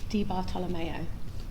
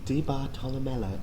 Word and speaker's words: Di Bartolomeo: Di Bartolomeo. Di Bartolomeo. D? Think D bottle of mayonnaise.